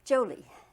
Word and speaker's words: Jolie: Jolie. Yes. The emphasis on the Joe.